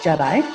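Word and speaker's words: GEDI: All right, so just to keep everybody awake, here's a little promo video about JEDI. So it's pronounced a la Star Wars, hence the video.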